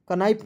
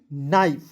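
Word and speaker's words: knife: ठीक है के एन आई एफ ई कनाइफ नहीं नाइफ एच ओ यू आर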